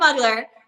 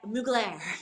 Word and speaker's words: Mugler: school like butchered that so not we're not muggler but mugir yeah yeah possibly I